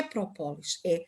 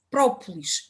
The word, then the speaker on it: própolis: das vezes dizerem própolis, mas não é própolis, em português diz-se própolis e escreve-se própolis, a resina, a substância própolis. É assim que se escreve, com o acento tónico no primeiro O, por isso vamos a